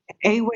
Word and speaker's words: Ewe: have a tribe called Awe, right? Awe is spelled EWE.